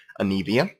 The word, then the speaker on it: Anivia: of oldies melphite and anivia i'm sorry if i pronounce that right but that's the correct pronunciation of it even though ryan doesn't think that way anivia so we got anivia now fight shyvana malzahar